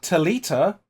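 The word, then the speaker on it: Thalita: I believe it's pronounced Talita. You just leave the H out.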